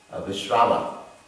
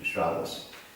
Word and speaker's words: Vishrava: So he sent his daughter to this sage, Vishrava. It's not pronounced Vishravas.